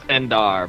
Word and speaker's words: Endor: actually pronounced Endar, but whatever.